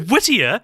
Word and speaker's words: Whittier: time I was called Whittier so weird yeah that's not a name so Whittier it kind of rhymes with like Lydia but it's not spelt